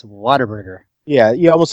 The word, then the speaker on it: Whataburger: Well, and are you make saying that 10 Whataburgers? Are you saying water or wada? What? Whataburger. It's like one word though. What's a burger? Everybody kind of says Texas accent. It's Whataburger.